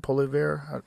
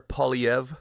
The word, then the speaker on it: Poilievre: Poilievre? Well, it's French, so it's I don't think he's French, but the name's French. Pierre Poilievre.